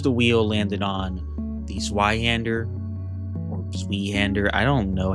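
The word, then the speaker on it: Zweihänder: It's pronounced Zweihander.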